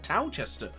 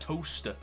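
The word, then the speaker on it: Towcester: I thought the town of Silverstone, where it is based, is a place called Towchester. Apparently it's not. It's actually pronounced Toaster, which, yeah, that completely blew my mind.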